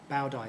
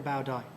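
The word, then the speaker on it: Bảo Đại: emperor called Bao Dai gang policies for the pronunciation Bao Dai Emperor Bao Dai now he wanted that name Emperor was essentially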